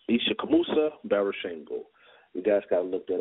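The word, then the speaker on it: Ishakamusa Barashango: he's gone he's with the ancestors his name is spelled i-s-h-a-k-a-m-u-s-a b-a-r-a-s-h-a-n-g-o all right it's isha kamusa baroshengo you guys gotta look that up basically i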